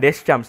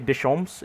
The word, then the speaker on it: Deschamps: Pronunciation bukan Deschamps tapi Deschamps itu dia.